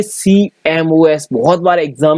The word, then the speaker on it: CMOS: ध्यान रख लेना, COMS, इसको जो शॉर्ट फॉर्म इसका प्रोनाउंस अगर हम करें तो CMOS बोला जाता है।